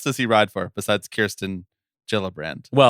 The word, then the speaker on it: Kirsten: I knew it was Kirsten and not Kristen.